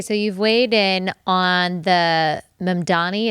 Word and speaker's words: Mamdani: So, you've weighed in on the Mani. Is that how you pronounce his last name? Yes. Zoran Mandani.